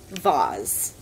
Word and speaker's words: vase: and then she's like, oh, vase, because it rhymes with Oz.